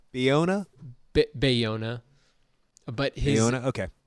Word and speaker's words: Bayona: Bayona, who has been the first I had ever